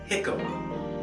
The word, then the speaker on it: jicama: eat well here's one it looks like the word jamaica but it is pronounced jicama and it goes by